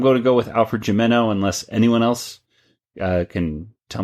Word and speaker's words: Gimeno: And I've been told by, I believe it was Curtis Finley, one of our listeners, that it is pronounced Alfred Gimeno because his wife used to work with him in some aspect.